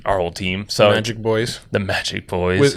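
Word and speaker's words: Boiz: So Magic Boys. the Magic Boys. It's spelled B-O-I-Z.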